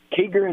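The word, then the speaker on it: Kieger: Kiger, is that how you pronounce it?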